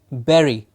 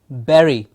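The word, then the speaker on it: bury: it is spelled ve ry very yes it is spelled bu ry Barry please remember be u ry has a pronunciation Barry the same as B e r ry is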